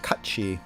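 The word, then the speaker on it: Cait Sith: things are it's pronounced really funny uh it's pronounced Kachi but we're not doing that we'll just call him Kate Seth so that's gonna be his name you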